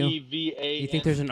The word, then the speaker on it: Kevan: K-E-V-A-N. You think there's an R in Kevin? You never know with And this a show. W. Is Maybe it Kavan? It's Kevan.